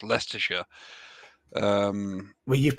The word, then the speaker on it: Leicestershire: on the pedantic server as to how to pronounce leicestershire um well you've pronounced it correctly leicestershire yeah